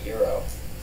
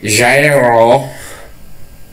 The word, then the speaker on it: gyro: Usually people mispronounce it and say Jairo, and it's just a tiny bit offensive. Gyro? Yeah. I called it a gyro the first time.